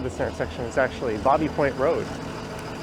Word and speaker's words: Baby Point: on the left is known as Bobby Point although it's spelled b-a-b-y so it's not uncommon here people call it baby point that's one I've been